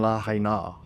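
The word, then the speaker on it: Lahaina: choice to say, this is how we actually pronounce it. Don't get me started on la haina, like that.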